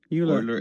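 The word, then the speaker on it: Euler: So what is pronounced oiler angles?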